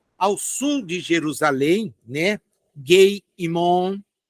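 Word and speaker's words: Gei Hinnom: Gei-Imon, Gei-Imon, na verdade, na pronúncia mais próxima.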